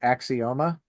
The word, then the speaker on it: Axioma: how do you say the band name is it axioma correct all right I got